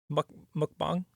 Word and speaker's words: mukbang: Oh, so it is bong. Mukbang. Okay, because that's what I thought. Anyways, if somebody but yeah, not bong the spelling, but I mean it's bang but pronounced like bong, which is how I had it in my head.